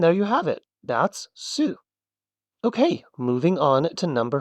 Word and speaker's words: す: This makes the su sound. Think sushi, which, by the way, is a word you're about to be able to read.